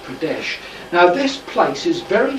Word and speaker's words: Pradesh: um and it's in medya or remember it's pronounced pradesh now this place is very famous for its